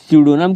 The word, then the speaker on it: pseudonym: उसे हम लोग स्यूडोनम कहेंगे। यहाँ पर जो पी है दोस्तों, ये पी क्या है? साइलेंट है।